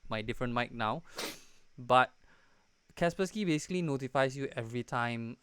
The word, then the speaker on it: Kaspersky: is a Kaspersky one or how do you pronounce it Casper sky Kaspersky Naposki Kaspersky so we're using that one okay and Kaspersky